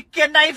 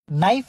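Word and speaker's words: knife: जा रहा हूं मेरी के नाइफ से गर्दन काट देंगे प्लीज नाइफ होता है भाई के साइलेंट होता है यहां पे उस प्राणी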